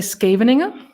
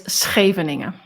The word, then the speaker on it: Scheveningen: So English people probably say Scheveningen, but it's Scheveningen.